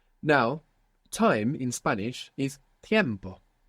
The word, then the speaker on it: tiempo: Now, time in Spanish is tiempo. You see the difference between tempo and tiempo, other than the Spanish pronunciation, is that the E has split into IE.